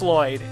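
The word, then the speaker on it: Loid: This other boy, his name is Lloyd, but it's not spelled like everybody else spells it. It's L-O-I-D. Not 2 L's and there's no Y's. His name is Lloyd.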